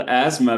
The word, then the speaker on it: asthma: That's called asthma. Very good. It's spelled this way, your attention, because we have two silent letters here.